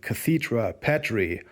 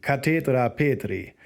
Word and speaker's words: Cathedra Petri: Peter's Chair or the Cathedra Petri, or if you prefer to pronounce it a bit more the Latin way, the Cathedra Petri.